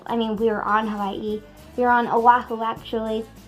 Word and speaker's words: Hawaii: you pronounce Hawaii, because the W in Hawaii is actually a V sound because they don't have a W sound.